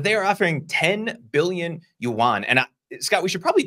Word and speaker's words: yuan: I mean, 10 billion yuan. Is that how you say that? That's what we're going to go with. Anybody who speaks Chinese can yell at us in the comments and give us the pronunciation of that. But I'm going to go with yuan.